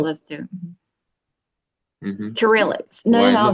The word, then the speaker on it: Cyrillic: Cyrillic.